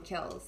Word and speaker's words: kiln: we just call them kills so you don't necessarily pronounce the n it's silent but the kills are